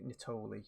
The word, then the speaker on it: Nittoli: was White Lies by Nick Natoli I think is how it's pronounced now I had a